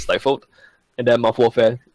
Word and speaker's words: Stifled: that's s gif led GME comm stifle gets pronounced St for a lot of times but don't do that it's stifled and their mouth warfare it's muffle fell calm